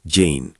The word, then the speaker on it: Jinn: Historias del Jinn. Antes de entrar en las voces, una precisión rápida. Cuando digo Jinn o Jane, como suelen pronunciarlo en algunas comunidades, no estoy traduciendo un concepto directamente al lenguaje de otra fe.